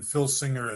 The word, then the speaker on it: Filsinger: And Filsinger is spelled with an F as in Frank.